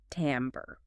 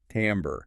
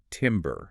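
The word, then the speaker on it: timbre: Timber. That's the common mistake. That French influence which gives us that slightly nasalized am sound is key.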